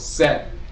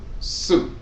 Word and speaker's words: Set: T which is pronounced that particular C is like the C in the English cell phone. So it's pronounced set. But there's also a pronunciation of soot.